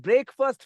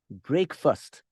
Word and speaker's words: breakfast: herself by the way the pronunciation is not break fast the orientals the Indians Chinese Japanese Koreans right we tend to say breakfast it is not break fast the word is break first break first she prepared breakfast for